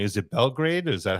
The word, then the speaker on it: Belgrade: Is it Belgrade? Is that how it's pronounced?